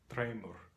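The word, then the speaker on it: dreymur: In Faroese, it is spelled D-R-E-Y-M-U-R, and it is pronounced Treimur, Treimur.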